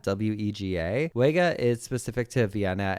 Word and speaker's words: Wega: The W is pronounced more like a V in German, so it's more like Vega and Wien.